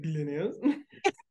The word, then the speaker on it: Glenys: a body of water because they really pronounce the GL. It's like Glenys.